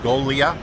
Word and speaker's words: Golia: Okay, my name's Golia, G-O-G-L-I-A, pronounced Golia.